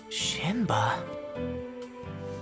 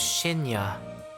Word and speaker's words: Shinya: Shinba? Yes, no, close. My name's Shinya.